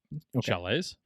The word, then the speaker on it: chalets: build shallots shallots shallots chalets chalets is that how you use that i pronounce it how do you spell it c-h-a-l-e-t-s yeah chalet i think chile i think it's